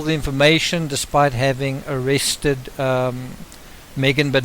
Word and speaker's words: Maygen: to the whole thing I just want to be clear that the spilling that I'm using on crime rocket is in a yge in which is the same spelling Heidi used but I'll be pronouncing a name Megan not Megan and then finally the